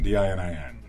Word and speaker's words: Dinin: How do you pronounce the name? Dinin, D-I-N-I-N.